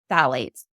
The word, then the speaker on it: phthalates: group of chemicals called phthalates. It's spelled very weird. It's PHTHALATES, phthalates. Nice.